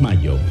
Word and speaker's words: Mallo: Y Laboratorios Mayo se escribe como gallo. LLO Laboratorios Mayo.